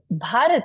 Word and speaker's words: Bharat: And Bharat is made of two syllables, which is Bha and Rat, right?